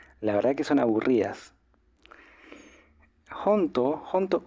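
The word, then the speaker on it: ほんとう: eh Y en realidad la palabra jonto esta jonto tiene una u al final sería como hon to así con esta u al final onto em Pero bueno cuando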